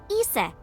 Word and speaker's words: Isis: Horus's mom is named Isis. Uh-huh. But in ancient Egyptian, it's pronounced closer to Isa or as H.